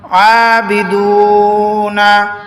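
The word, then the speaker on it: أَعْبُدُ: জজমালা ওয়াও মাদের হরফ আবিদুনা মা উপরে চিকন চিহ্ন তিন আলিফ টানিয়া পড়িতে হয় আবুদ আবুদ অক্ষ করার কারণে ডালটা বায়ের সাথে মিলে যাবে জজমের উচ্চারণ হবে এজন্য কলকলার আওয়াজ দিয়ে পড়তে হবে কলকলা মানে ধাক্কা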